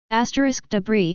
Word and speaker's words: debris: *debris is pronounced as debri.